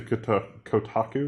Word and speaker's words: Kotaku: So, according to Kotaku, is that how you pronounce that? Kotaku, yeah.